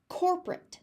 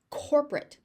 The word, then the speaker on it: corporate: it's being used for how you're going to pronounce the ending. Core. Core. You hear that, you feel that here. Oh, core. Corporate. So again, we have that oh sound. Corporate.